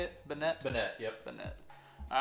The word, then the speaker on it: Banette: crazy um it's really cool and then uh Bennett that's how you say it Banette yep all right let's get Gardevoir sleeved up